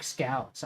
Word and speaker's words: Scoos: Scoos is pronounced like scouts.